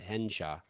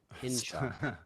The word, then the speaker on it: Hinshaw: Don't mispronounce it. Henshaw. Hinshaw.